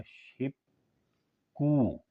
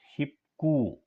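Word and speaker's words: 십구: कहते हैं नौ को लेकिन जब हम इसको इकट्ठा पढ़ेंगे तो यह हो जाएगा शिप कु शिप कु ख के बाद कभी भी ख आ जाए तो ख काफ हो जाएगा ये आपने ज़हन में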